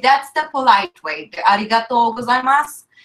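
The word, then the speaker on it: ございます: gozaimasu soup but but you know they don't pronounce new in the end okay you got all gozaimasu cuz I'm us yeah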